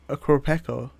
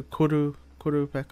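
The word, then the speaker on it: Qurupeco: It can't be a Kropeko. I know it's not called a Kropeko, but I like calling it that. It's a Kurupeko or something. That's the proper pronunciation, but I like calling it a Kropeko.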